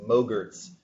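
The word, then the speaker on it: MOGRT: refer to these as mogar's because the file format is actually dot mo GRT rhymes with yogurt motion graphics templates so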